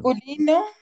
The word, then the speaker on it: masculin: Masculino, singular. Parfait, bravo. Masculin. On va prononcer masculin, singulier.